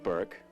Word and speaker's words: Bourke: Daniel Joseph Burke. B-O-U-R-K-E, not B-U-R-K-E. It's the same name, but I spell it that way my father did before me.